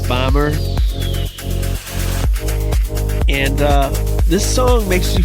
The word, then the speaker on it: Böhmer: But I'm pretty sure that despite this, his last name is pronounced Böhmer.